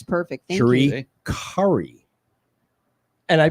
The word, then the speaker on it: Currie: Currie. And I pronounced the whole thing.